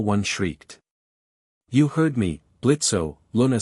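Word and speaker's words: Blitzø: The grumpy one is my husband, Moxy, and the tall fella is Blitzo. The O is silent.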